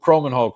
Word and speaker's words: Kromenhoek: Luke Kromenhoek, right?